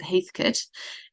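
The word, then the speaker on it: Heathcote: called Heathkit um spelled Heath Coat but we pronounce it Heathkit and it rivals the Barasa Valley for um really big bold um dark reds.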